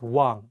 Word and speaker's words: 왕: In this case, you don't pronounce the ieung at the beginning of the word. Only say the wa and pronounce the ieung at the end of the word as ng.